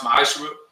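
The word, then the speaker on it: מעשר: Means 10th in Hebrew and is pronounced ma'ashra.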